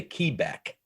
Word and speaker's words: Quebec: and you know q q is quebec but we say key back just so you can understand it on the radio and it's like okay